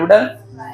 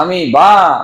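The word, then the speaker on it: amoeba: बा सांगा बरं बाबा अमीबा बॉ नाही बा नाहीतर माणसा अमीबा अमीबा ओके वाचन करत असताना खूप साऱ्या मुलांचा अजून एक प्रॉब्लेम होतो माहिती आहे काय पोराले अमीबा माहीतच नाही पण स्पेलिंग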